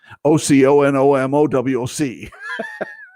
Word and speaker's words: Oconomowoc: And if you see Oconomowoc, you'll know that that's not the way you pronounce it. Oconomowoc.